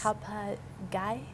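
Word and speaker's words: ข้าวผัดไก่: Khao pat gai. Yeah, gai. We were told to make sure we say that right, because if you say it wrong, you could accidentally say egg. Right. In Thai.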